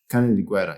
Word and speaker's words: Canediguerra: Canediguerra, yes. Canediguerra. Yes. I have that on my, but in case I mispronounce it again, that might not be very nice.